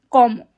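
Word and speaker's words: cómo: If you have an accent over the letter, then that means that is where the stress is. So, instead of como, it is como.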